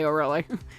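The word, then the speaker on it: Olga Orly: I don't think it's actually pronounced Oill, but it's definitely Oureli. And if Mr.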